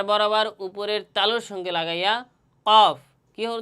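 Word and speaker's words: ك: calf হরফটি উচ্চারণের স্থান হচছে তার থেকে একটু সামনে আগাইয়া কফের স্থান থেকে একটু সামনে আগাইয়া তথা এই জিহ্বার গোড়া থেকে একটু সামনে আগাইয়া কাফ উচ্চারণ করলে আপনারা বুঝতে পারবেন যে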